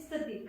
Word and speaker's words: स्थिति: ऐसे ही एक वर्ड है स्थिति। हाँ स्थिति, स्थिति, स्थिति, एग्जैक्ट प्रोनाउंसिएशन स्थिति। हाँ स्थिति।